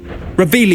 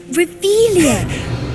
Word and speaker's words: Revelio: Revelius. You're saying it wrong. Revelia. Much better.